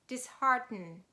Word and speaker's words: dishearten: word starts with h we pronounce them as two different sounds and we say dishearten and as you remember